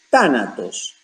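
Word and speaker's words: thánatos: Veamos que en el original griego la palabra usada en el Nuevo Testamento como muerte es tánatos, con acento en la primera A.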